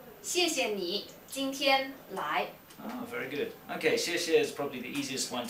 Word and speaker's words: 谢谢: Yeah, most of the students, they pronounce like SH sound, like 谢谢. Yeah. But actually, if you pronounce that, do remember, make a very clear sound. We say 谢谢 instead of say 谢谢.